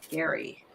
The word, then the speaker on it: Gerry: after american political elbridge jerry pronounced with a hard g as if spelled gary jerry i don't know